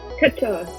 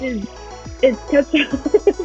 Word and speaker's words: Cutshaw: Cutshaw. What was that? It's Cutshaw.